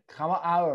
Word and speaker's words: hour: ดู ค ำ นี้ ค ำ ว่ า hour ตั ว h ไ ม่ อ อ ก